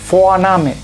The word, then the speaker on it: Vorname: O sea, la V en alemán se lee como un sonido F y muy fuerte, o más que fuerte, que es muy claro. Ese es muy notorio. Entonces esto se lee Vorname, Vorname.